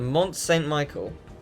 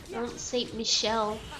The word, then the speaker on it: Mont Saint Michel: To Mont Saint Michael. That's a very specific place. Mont Saint Michel. Okay, Michelle then. My bad. Because even Goofy said it right.